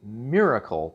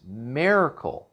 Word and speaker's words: Maircle: You kind of want to say Miracle, but that's not how it's spelled. It's Maircle.